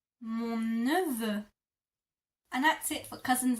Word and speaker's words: mon neveu: And for nephew, you would say mon neveu. Mon neveu. Mon neveu.